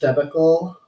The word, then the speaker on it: debacle: The devastation of this last debacle, debacle, it's been a long time since I've actually used that word.